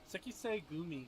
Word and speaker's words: Sekisei Gumi: Sekisei Gumi. So I was kind of saying it right. It's just, I tried to say it a little too much, like, one word.